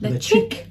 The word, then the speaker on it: Ledaig: to pronounce it, and they spell it out Letch, which is what we thought. -ick. Ledaig.